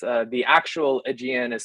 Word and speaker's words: Aegean: c so there's um it's uh the actual aegean is spelled a-e-g-e-a-n and we thought we're a little